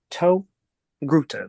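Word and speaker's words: Togruta: this series entitled show is a torguta to Gruta that is how you say the reason for people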